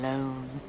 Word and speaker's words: Lone: Tom Lone. Rhymes with cone, phone, bone.